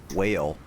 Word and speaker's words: whale: Another weird one is there uh whale. Whale. It has a h that's silent. Yeah. Yeah. Well, it's just like in what and white.